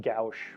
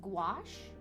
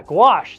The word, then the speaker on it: gouache: uh galfs it looks like it should be pronounced gauche but it's the the pronunciation is like Garrosh there's a w in it it's very strange gouache yeah gouache that's it CNN's got it gouaches um which